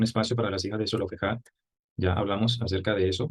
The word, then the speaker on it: Zelofehad: Entonces, vamos a seguir con el caso de las hijas de Zelofehad, ¿verdad? O Zelofhad, como podríamos pronunciar también.